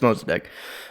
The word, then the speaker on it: Mossadegh: Mossadegh. Fuck it. It's Mossadegh.